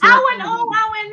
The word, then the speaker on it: Awen: It's Awen. Hi, gorgeous. Wow, I haven't seen Awen for ages. How are you doing? I always pronounce her name wrong. It's Awen and not Awen.